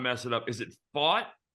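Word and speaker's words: Pfaadt: don't want to mess it up is it fought fought okay yes Brandon plot real quick yeah he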